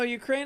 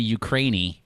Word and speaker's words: Ukraine: ends in ukraine ukrainian no ukraine ends with an e doesn't it oh it's but it's the word the way you say it right oh you don't say ukrainey oh that is good